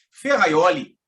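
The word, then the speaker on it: Ferrajoli: ou gênio italiano Luigi ferraioli Você conhece ferraioli Você já leu ferraioli se escreve a High Jolie e pronúncia Luigi ferraioli dentre outra cérebro sobras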